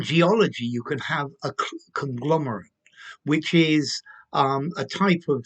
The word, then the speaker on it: conglomerate: Conglomerate, to conglomerate. So notice there's a slight difference in pronunciation. The noun, a conglomerate, or the verb to conglomerate.